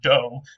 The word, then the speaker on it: dough: our modern English word dough. Of course, now the G at the end has gone silent. It used to be pronounced, and so it would have sounded more like dig.